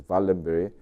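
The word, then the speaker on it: Wallenberg: family in sweden the valenberry family is spelled waldenberg but that apparently you have to read it as valenberry this family owns directly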